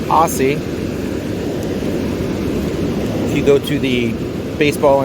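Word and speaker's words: Aase: the gum Pedro Guerrero Don Aussie pronounced an Aussie you go to the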